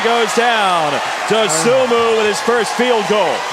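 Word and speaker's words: Dosunmu: He told me it was Dosumu. Dosumu. Okay. Dosumu. He told you right.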